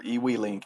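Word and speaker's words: eWeLink: So, we are now ready to go ahead and add them to our EW link app. And this is the it's spelled EWE L I N K.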